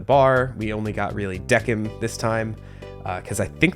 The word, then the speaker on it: Decim: that's how it's pronounced, because I think when he said the name of the bar later, it was like Quinn Decim. So I'm going to assume that his name is also Decim as well.